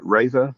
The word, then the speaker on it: Reva: Is it Reva? Am I pronouncing it right? It's Reva, but I'll go on by anything.